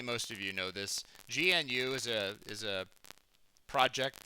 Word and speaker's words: GNU: if you don't know gnu is that's how you say it by the way gnu what it stands for